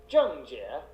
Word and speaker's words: Zheng Jie: Today, we're going to teach you how to pronounce the name of the rising star of Chinese tennis, Zheng Jie.